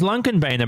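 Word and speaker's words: Lånkebanen: then they told me the correct way to pronounce it is lung convenor but they also told me that everyone just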